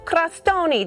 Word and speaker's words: crostoni: Okay, so talk to me about this sausage and stracchino crostoni.